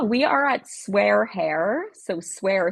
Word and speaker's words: SWAIR: So, swear spelled like hair sw air um on all the things.